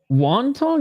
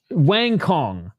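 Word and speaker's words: Wang Cong: They said Wang Kong is pronounced Wantong? No. It's Wang Kong.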